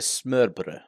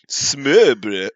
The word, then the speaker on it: smørbrød: Go ahead and try to tell me what a smørbrød is. It's SMO with a line through it R, BRO with a line through it D, but the D is silent.